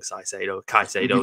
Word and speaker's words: Caicedo: But likes of Caicedo, like we said before, I said it wrong, Caicedo is the correct pronunciation.